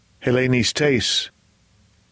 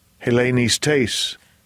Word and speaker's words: Hellenistes: Strong's G 1675, Hellenistes. Hellenistes.